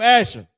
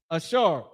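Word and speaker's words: אשר: people that Donald Trump just ran down on uh Brazil, the tribe of Asher, Ashar, and the Hebrew.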